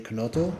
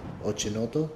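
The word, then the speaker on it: Chinotto: guys familiar with the dream konoto ochinoto depending on how you say it oh the name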